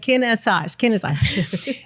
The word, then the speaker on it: Kinesage: It's like Kinesage.